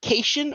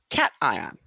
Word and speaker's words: cation: That's either cation or cation. Why or how do you remember? It's because it is positive, like a cat.